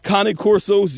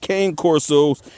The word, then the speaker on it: Cane Corso: Yes, a lot of people call them Cane Corsos. They are not Cane Corsos. They are Cane Corsos, Italian Mastiffs, all right? Just something for y'all to start pronouncing right.